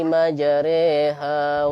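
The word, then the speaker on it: مجراها: Jadi bunyi a menjadi e.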